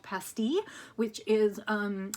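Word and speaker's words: pastilles: and it was called pasty which is um it's p-a-s-t-i-l-l-e-s um and that's the French pronunciation it made me laugh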